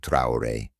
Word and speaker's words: Traoré: Ibrahim Trayor, French pronunciation, Ibrahim Trouore, born the 14th of